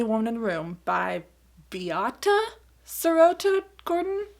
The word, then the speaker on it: Beate: in the Room by Beata Sarota Gordon? Beate? I think it's Beata. Again, I looked up a couple of different ways to pronounce it, but I believe it's something in the neighborhood of Beata.